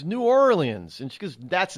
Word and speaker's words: New Orleans: have decided to leave nollans I said it's not nollans mom it's New Orleans and she goes that's